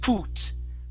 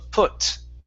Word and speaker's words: put: Now here you used an oo sound saying put. Instead of put, it's put. Put.